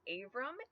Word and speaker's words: Avram: This can also be spelled and pronounced Avram, A-V-R-A-M.